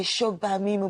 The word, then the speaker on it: Shogbaminu: Now read it phonetically. Shogbaminu. Okay, Shogbaminu, but well There done.